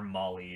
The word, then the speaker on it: MOLLE: up here, so, sorry, I was pronouncing that wrong. It is, Molly or Molly, whatever.